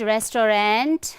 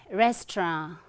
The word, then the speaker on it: restaurant: It's not restaurant, it's restaurant, restaurant, okay? Not restaurant, but restaurant.